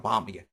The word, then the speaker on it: bomb: bomb, 여기에 B가 묵음입니다. 소리 나지 않습니다.